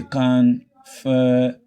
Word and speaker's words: confirmation: word, you now say confirmation. The rule says when a word ends in ION, the syllable of ION, you will not stress it. But the syllable that comes before it will now be stressed.